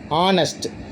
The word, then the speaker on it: honest: ஹச்சு இந்த இடத்துல சைலண்ட்டாக வந்துடுங்க. எப்படி ஹவர் அப்படிங்கிறது அவர்னு நம்ம சொல்கிறோம், ஹவர்னு சொல்லக்கூடாது. அவருங்கிறது மேலே இருக்குது பார்த்தீங்களா, அந்த ஹச்சு ரெண்டு இதுலேயுமே ஹச்சு சைலண்ட்டுங்க. OUR இதை தான் நம்ம ப்ரொனவுன்ஸ் பண்ணணும், அவர்னு. அது மாதிரி இங்கேயும் ரெண்டாவதுக்கு பாருங்கள், ஆனஸ்ட், ONEST, ஆனஸ்ட் தான் நம்ம பயன்படுத்தணும்.